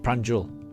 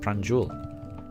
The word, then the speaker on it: Pranjal: And Pranjal. Ah, good. I'm glad I'm pronouncing it correctly. So Pranjal. Good. Pranjul. Oh, Pranjul. Okay, yeah. Right. Pranjul.